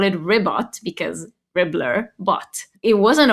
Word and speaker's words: Ribbot: It It's pronounced Ribot cuz he actually began as the community bot